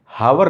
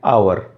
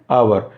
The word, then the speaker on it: hour: क्या है, एच, लेकिन ये एच हमारा साइलेंट है, इसको HOUR को हम हावर नहीं पढ़ते, इसे पढ़ते हैं आवर। क्या पढ़ते हैं, आवर।